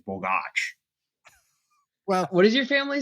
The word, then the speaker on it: Bogacs: do they say well we say borgus because it's easier but the actual sort of correct pronunciation is Bach well what does your